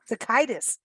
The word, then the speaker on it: Sitaikis: He pronounces it Sitaikis. Sitaikis. Okay. Sitaikis.